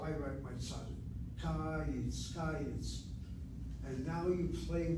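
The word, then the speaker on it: קיץ: I conclude that my first syllable is open with a short vowel, and that's why it is accented. The word is pronounced as kayitz, not kayitz.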